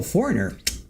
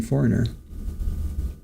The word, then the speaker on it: Foreigner: Abel, what good is the G in Foreigner? It's one of those silent letters.